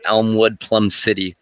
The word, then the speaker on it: Elmwood/Plum City: It's pronounced Elmwood, Plum City.